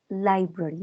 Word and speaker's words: library: And remember, Laurita, the pronunciation is library, okay?